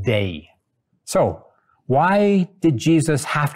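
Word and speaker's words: δεῖ: The Greek word is pronounced "dei."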